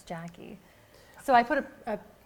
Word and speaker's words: Jaci: all the time people that I've known for years will call me J C and then it's like well it's Jackie so I put a